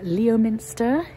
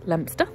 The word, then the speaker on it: Leominster: pronounced soul um or Leominster is not pronounced Leo Minster it's lemster um yeah we have